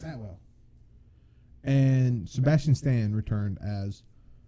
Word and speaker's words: Atwell: I think that's how you say her name, Atwater, or Atwell. It's Atwell.